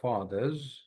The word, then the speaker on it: fathers: তো এখানে কি করবেন, যেমন ধরেন এই জায়গাটা এইভাবে পড়বেন, their fathers, fathers, যা সাউন্ড হবে, সা হবে না, হ্যাঁ, their fathers, mothers, and brothers.